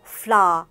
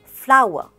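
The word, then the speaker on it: flour: This is not flower or floor, it's flower, same as the plant flower.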